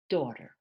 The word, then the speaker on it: daughter: they ask room bathroom daughter daughter so you don't announce these these two letters at all thank you thank you